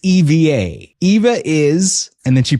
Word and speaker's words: EVA Air: is it pronounced EVA or is it EVA Air? So she paused and she said, it's EVA.